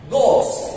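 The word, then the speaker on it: ghost: جوست الاتش سايلنت يعني جوست شبح ماشي؟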